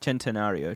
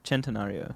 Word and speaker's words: Centenario: it's spelt sen santorino but it's um it's pronounced chen torino okay um i'll look it up centenario centenario sorry and um it's uh it's actually came out in uh 2016.